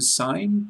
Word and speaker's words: sign: G in sign must silent be.